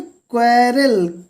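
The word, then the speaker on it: quarrel: यहाँ पे क्वेरल, QU तो क्वारल, झगड़ा करना, लड़ाई झगड़ा करना।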